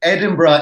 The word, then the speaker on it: Edinburgh: I it's it's funny mentioned those twoo because Edinburgh in particular has been really high on my